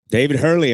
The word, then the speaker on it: David Hurley: it too all right so we're rolling so David Hurley am I pronouncing that right That's it man it's good